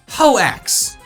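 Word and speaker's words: Hoaxe: the fullest insight on hoax hawax that's the official pronunciation hoe axe really i smack holes with an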